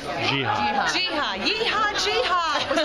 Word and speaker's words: Geha: I'll say, how do you pronounce this last name? Geha? Geha.